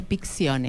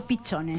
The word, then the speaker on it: Piccione: Licenciada Claudia Picciones. Ahí está. Piccione. Porque yo le digo Pichone, ¿viste? ese acento, no sé por qué.